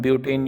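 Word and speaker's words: but-: Similarly for 3 carbon we use prop, for 4 carbons we यूज़ ब्यूट, BUT लिखते हैं और इसका प्रोनाउंसिएशन ब्यूट होता है।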